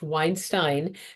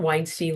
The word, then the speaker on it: Weinstein: And the thing is I always tell people it's pronounced Weinstein, not Weinstein like Harvey. Um, so you can keep that in here. That's fine. Okay. Weinstein. And it's easy to remember because it rhymes.